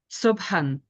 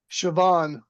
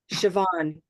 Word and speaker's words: Siobhan: you'll have to unmute sioban yep sioban so this name as much as it looks like what you said Natalia is sioban and you know for